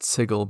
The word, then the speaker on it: Sigil: but I do personally like it being pronounced sigle because it makes it very clear that we aren't talking about a Sigil which is a word that definitely gets used while playing DND d a signal of